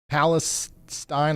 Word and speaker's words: Palestine: Palestine, like spine.